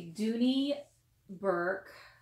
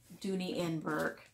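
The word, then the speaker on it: Dooney & Bourke: stories but it is a duty Burke Dooney and Bourke if you want to pronounce it correctly I myself love duty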